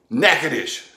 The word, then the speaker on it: Natchitoches: you've got the ch that sounds like the sh and champagne and then you got the e and s which are silent you know like in des moines and illinois and arkansas yeah uh-huh knack-a-dish spelled just like it sounds naked as meat pies